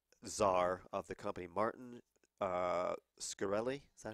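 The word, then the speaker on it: Shkreli: The Drug czar of the company, Martin Scarelli. Is that how you pronounce it? Yes, Carol. Yeah. Scarelli.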